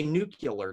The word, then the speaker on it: nuclear: But anyway, I'll say nuclear too. There's no U. There's no second U, I should say. I know, and there are even some physicists who will pronounce it that way. And I've heard that, and it bothers me.